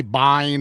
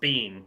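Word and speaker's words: Biehn: I I saw a video where he said it's Bean. He He told him, "Yeah, it's Michael Bean." He's like, "Oh, interesting." Because that name in Scotland is pronounced Bean.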